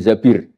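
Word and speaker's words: الزبير: Kemudian saya nikah sama Abdurrahman bin Zabir. Di hadis ini bukan bacanya bukan Zubair, tapi Zabir.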